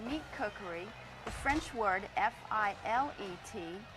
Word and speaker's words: filet: If you're speaking about meat cookery, the French word F-I-L-E-T, it's pronounced filet.